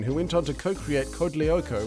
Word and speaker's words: Code Lyoko: went on to co-create code lyoko which i always mispronounced as code de lyoko and ran an insanely